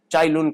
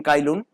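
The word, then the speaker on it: Cai Lun: चाइलून कालून आप प्रोनाउंस कर सकते हैं।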